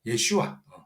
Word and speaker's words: 예슈아: 어 히브리식으로 발음 발음하면 예슈아.